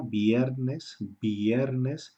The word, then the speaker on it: viernes: Porque desde hace 20 años la Real Academia de la Lengua dice que la V se pronuncia igual que la B.